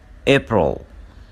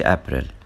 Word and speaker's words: April: A بتكون less common in April. ما تقولش April. April. Alien and angel.